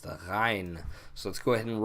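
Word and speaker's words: غين: So it sounds like a G. A lot of times you'll see it transliterated as GH. But it's the same thing almost with a cough. You're putting your tongue back and you're vibrating up at the roof of your mouth in the back, and you're making a G sound.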